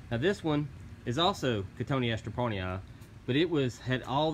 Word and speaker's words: Cotoneaster: Cotoneaster. Don't say Cotoneaster. Cotoneaster parnyii. Now this one is also Cotoneaster parnyii, but it had all this growth coming out.